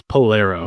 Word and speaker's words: Polaro: What's the correct pronunciation? It's Polaro. Polaro.